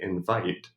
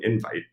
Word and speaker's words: invite: So if in American English, at least, if you say invite, we hear that as a verb. I'm inviting you to something. But now Americans will also say, I sent you an invite. And if you stress the first syllable of that word, we hear that as a noun.